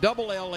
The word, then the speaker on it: Ele: strike to L Carter her first name is e l e pronounced L like the initial I like that that's